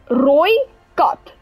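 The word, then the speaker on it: Rooikat: So it is Roy Cut. Now, Roy translates to the color red, and then Cut, you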